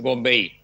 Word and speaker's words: Bonvehi: ¿Bombeí o Bombejí? Para pronunciarlo bien. Es Bombeí. Bombeí, muy bien.